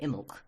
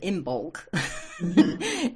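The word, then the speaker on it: Imbolc: Now that's got funny spelling, too. It's imbol. And we don't say most of it. We just say imulk. Um instead of imbulk, which it you can say that, but and people may not recognize you.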